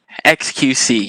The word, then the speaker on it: xQc: how you pronounce it xqc yeah at least that's how i understand it right like just reading it phonetically as letters exit qc okay so i read